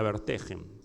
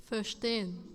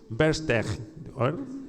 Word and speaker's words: Verstehen: Es lo que Weber llama la Verstehen. No sé si es una palabra alemana. Verstehen, que quiere decir algo así como la comprensión racional de las motivaciones de la acción. La Verstehen.